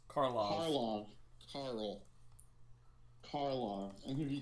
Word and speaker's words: Karlov: did you say his name's Carl? Karlov.